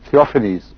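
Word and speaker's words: Theophanes: تھیوفینیز اس کا تلفظ ہوگا.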